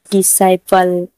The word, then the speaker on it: disciple: DISCIPLE, डिसाइपल। साइपल ने भी एस के बाद सी है तो सी का उच्चारण नहीं कर रहे हैं इसलिए इसे हम डिसाइपल पढ़ते हैं।